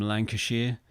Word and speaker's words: Lancashire: Quick tip for Americans: if you're ever faced with the name of a British county and it's got Shire on the end of it, you pronounce it Sheer, not Shire. It's not Hobbiton.